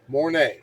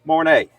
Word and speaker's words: Mornay: How you pronounce that, Barry? Mornay. Mornay.